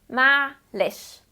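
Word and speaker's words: معلش: ado let's get started first it is pronounced as ma leche ma leche Manish okay that's not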